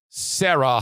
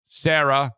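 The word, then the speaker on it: Serra: by first of all sarah honda granville and that's s-e-r-r-a sarah honda granville spell it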